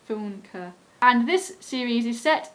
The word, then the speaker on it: Funke: Now I looked it up and I think that's how it's pronounced, Funke.